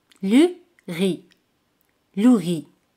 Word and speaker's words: riz: Por ejemplo, arroz, le riz. Le riz. Le riz. Z al final no se pronuncia.